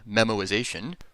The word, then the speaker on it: memoization: invocations of a function incidentally that is not a mispronunciation of the word memorization it's a technical term it's memorization without the r this method as it